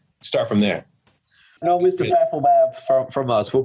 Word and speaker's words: Fathelbab: Fathelbab. And there's been numerous others. Really, the last name is phonetic, so exactly how it looks is how it's pronounced, Fathelbab. But I've heard father, dad, father bag, Fathelbag.